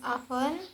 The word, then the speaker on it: often: T is also silent in these words below. For example, such as the first often becomes often, soften becomes soften, and Christmas becomes Christmas.